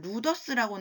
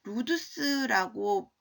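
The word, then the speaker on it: ludus: 우리 그 교재에는 루더스라고 나왔는데 루두스라고 읽는 게 좀 더 맞을 거예요.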